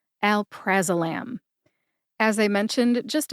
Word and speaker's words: alprazolam: hear that emphasis when I say it again Al praam Al praam as I mention mentioned just a minute ago I found the pronunciation of Alprazolam in the USP dictionary online